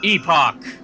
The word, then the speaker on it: Epoch: you mean Epic no Epoch I'm saying it the the British way oh okay e p